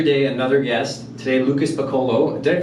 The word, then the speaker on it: Picciolo: Today, Lucas Picciolo. Did I pronounce it right? Some people say Picciolo, but it doesn't really matter. Yeah. So it's Italian.